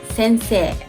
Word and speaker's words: sensei: in my channel name there is an i here but but it's better not to pronounce the last i and extend say listen carefully sensei sensei you can translate it